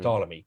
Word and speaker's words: Ptolemy: second century a.d ptolemy you don't pretend you don't uh pronounce his let his first letter p just as they ptolemy but i see it